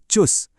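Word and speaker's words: Tschüss: अलविदा कहने का एक इनफॉर्मल तरीका है चुस।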